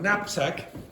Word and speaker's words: knapsack: Okay, the first spelling of knapsack. Anyone know the first letter? No. Knapsack. Anyone guess the first letter? K.